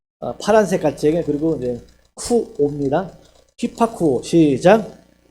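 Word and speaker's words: ὑπακούω: 헬라어로는 이거 발음이 되려나 벌써? 히파쿠오래. 히파쿠오. 한번 배워볼까요? 휘파람 물지개 그리고 파란색 가치개 그리고 이제 쿠오입니다. 휘파쿠오 시작.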